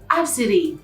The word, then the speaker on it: ABCDE: And then she was like, ABCDE, and guess how it's pronounced? And I'm like, how is it pronounced? And she's like, Absidy.